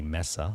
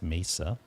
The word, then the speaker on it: Mesa: i'm saying it right i used to say mesa but it's mesa and there it is